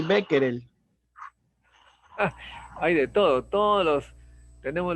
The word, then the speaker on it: Becquerel: sería ahí si no sería una y sería henry y acá sería de repente becker el no como es francés henri becquerel y así hay una serie de nombres extranjeros que nosotros tratamos de pronunciarlo como si fuese en inglés pero no es el